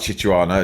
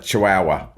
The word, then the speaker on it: Chihuahua: as big as a not a chichua a Chihuahua but none as big